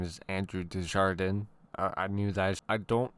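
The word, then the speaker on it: Desjardins: We have Andrew. Pause. I'm Um his name is Andrew Dejardan.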